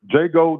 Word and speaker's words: Jago: Jago the from Houston. Okay. That's how you say my name. It's Jago the.